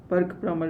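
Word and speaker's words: Burke–Plummer: power 3 is Brucker-Plummer Burke-Plummer equation. Okay, so delta P by L, you can pronounce sometimes Brucker, also it is written in some textbook, but you can be Burke-Plummer equation, or which is equation for the turbulent flow.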